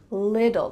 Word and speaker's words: little: really in American English, those T's are going to become D sounds. So it's going to sound like lidl, little, like a lid that you put on a container, little.